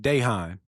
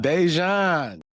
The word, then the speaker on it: Dejan: hard to pronounce, but they said Dehan. I said, who? Dehan. Who is Dehan? That boy name is Dejan. Dejon.